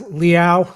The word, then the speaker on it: Liao: Jimmy Liao, is that right? Yes, Liao, like Liao. meow, cat.